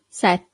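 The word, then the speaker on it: sette: Say set. So you have a double t here. Set.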